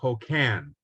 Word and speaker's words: Hokan: The family pronounced their name Hokan. Okay. With the emphasis on the last syllable, just so that you know.